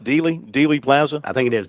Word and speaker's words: Dealey: It's pronounced Dealey Plaza.